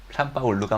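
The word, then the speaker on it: São Paulo: 나중에 제가 설명하기 어렵고 아직 저작권이 살아있어 사진을 막 돌리긴 그런데, 밀라노바 아르티가스 Facultad de Arquitectura de San Paulo, 산파울루가 맞죠, 현지 발음을.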